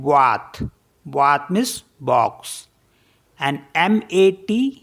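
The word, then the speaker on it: boîte: Next है BOITE, इसे पढ़ते हैं बात।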